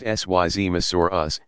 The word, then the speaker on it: Seismosaurus: Among the longest of these dinosaurs were the Seismosaurus, pronounced Syzmosaurus, and Supersaurus.